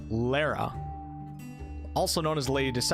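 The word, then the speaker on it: Leira: So Lyra, pronounced Lara, also known as the Lady of Deception or the Lady of the Mists, was a goddess of deception and illusions.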